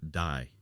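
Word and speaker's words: 大: It is pronounced "dai".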